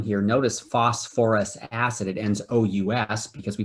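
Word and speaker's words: phosphorous acid: couple of moments ago phosphorus is another element like sulfur where they actually stick an extra syllable in there so it's actually called phosphor us acid right professor yep how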